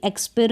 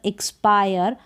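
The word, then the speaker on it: expire: इसको भी एक्सपिर ना पढ़कर एक्सपायर।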